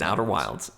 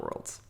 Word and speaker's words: Outer Wilds: It is Outer Wilds, not Worlds.